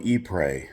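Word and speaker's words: Ypres: speak that we went to a place called e-prey we drove down there y p r e s is how you spell it if you want to look it up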